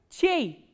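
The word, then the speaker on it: чей: The next word we have from ch is ch, ye and e krat ke. And how will you pronounce this word? Chei. Chei is whose.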